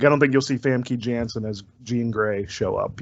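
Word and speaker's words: Famke Janssen: did with that continually okay it's pronounced funky youngster by the way but that's true no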